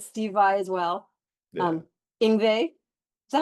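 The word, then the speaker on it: Yngwie: Ingve.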